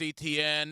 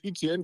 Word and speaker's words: Etienne: That's what Etienne got, or Etienne. He changed the pronunciation of his name.